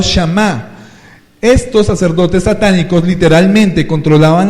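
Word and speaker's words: Samhain: Los druidas eran satanistas que alababan y servían al Dios de la muerte, Shamaín, pronunciado Shamá.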